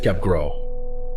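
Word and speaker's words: Capgras: introduce the concept of cap grass syndrome first discovered in 1923 by French psychiatrist Joseph capg grass if you wanted to pronounce it in French it's Joseph capgro capg grass syndrome or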